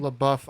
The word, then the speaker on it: LaBeouf: LaBeouf up, and yeah, he is crying right there.